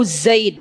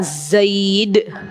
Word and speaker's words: Zaid: bakr bin Abdullah Abu Zaid ya Abu bacanya Abu Zaid ya jadi lisannya lebih ke Za Zaid ya ya Beliau memiliki buku